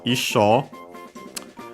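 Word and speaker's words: 一生: Literally, it uses ichi, the number one, in Chinese pronunciation. Sho is one of the pronunciations we have seen, because we have already studied it actually, that one, of the kanji for to live, ikiru, and several other meanings,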